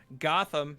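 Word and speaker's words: Goth'em: now you good uh this one is gotham but it is spelled g-o-t-h apostrophe e-m like gotham yes because because we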